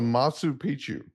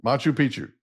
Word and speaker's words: Machu Picchu: decision to go to Matsu picu did I say it right Machu picu Machu Picchu right yeah what right TW did